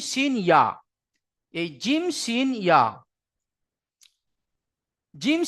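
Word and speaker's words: ي: আগে, আর জিম শিন ইয়া এই 3টি অক্ষরের মাখরাজ হলো জিহবার মাঝখান তার বারবার উপরের তালু, জিহবার মাঝখান এবং তার বারবার উপরের তালুর সাথে লাগিয়ে উচ্চারিত হয় জিম শিন ইয়া।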